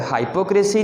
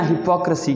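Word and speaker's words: hypocrisy: हाइपोक्रेसी नहीं कहना, हिपोक्रेसी कहना। इसके भी हिस्से कर लें आप, हिपोक्रेसी। हिपोक्रेसी इसका मतलब है मुनाफिकत। एक और जो लफ्ज़ जो मुनाफिक होता है उसे इंग्लिश में कहते हैं HYPOCRITE। इसे लोग हाइपोक्रेट पढ़ते हैं, जो कि गलत है। इससे आप पढ़ना है हिपोक्रेट। हिपोक्रेट, हिपोक्रेट पढ़ना है इसको, ठीक है, हाइपोक्रेट नहीं पढ़ना। ये भी हाइपोक्रेसी नहीं है, हिपोक्रेसी है।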